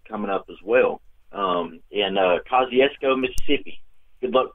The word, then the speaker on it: Kosciusko: at first I'm sitting on my Costco Mississippi Costco Oh Kosciusko but yes investigating up here or home oh